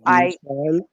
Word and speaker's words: Bichon: So Bishan. right. So Bichon is spelled Bichon, but in my book, I spelled it out phonetically, what like a B, like Beeshon.